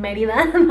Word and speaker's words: Mérida: I went to Mérida, and I sound so weird saying it in an English accent. Mérida, that's how you say it in Spanish accent.